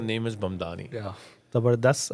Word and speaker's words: Mamdani: The name is ममदानी. MAMDANI.